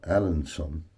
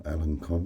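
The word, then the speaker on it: Alençon: But that stamp there says Alanson, or Alancon, whichever way you want to pronounce it. But yeah, I would say Alanson, and that is their stamp.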